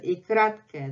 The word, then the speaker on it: й: So in reality, it's pronounced like Y, Y, Y. So when we are saying мой, at the end of the letter мой, this is И краткое. That's how it sounds.